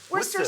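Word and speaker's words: Worcestershire: Worcester sauce. Worcester sauce?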